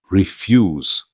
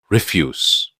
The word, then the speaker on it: refuse: refuse 거절하다라는 뜻입니다. 아래는 refuse 폐기물이라는 뜻으로 강세가 앞에 있습니다.